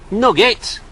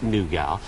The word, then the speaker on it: nougat: me or do me i know it's pronounced nougat but i'm from manchester they're in manchester they say nugget all right sorted hey